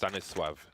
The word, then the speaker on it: Stanisław: His name is actually pronounced Stanisław.